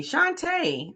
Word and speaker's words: Shanta: So while we wait, uh, Shanta rhymes with Santa. Like that. Shanta.